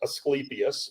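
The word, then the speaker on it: Asclepius: U but it is pronounced eskeipius. Um people will commonly know of it. It's the uh the ask with the the snake uh around it the symbol the medical symbol that that's esipius.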